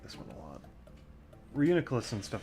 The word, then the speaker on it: Reuniculus: Reuniculus. That's how you say it.